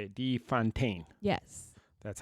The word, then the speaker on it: de Fontaine: De Fontaine.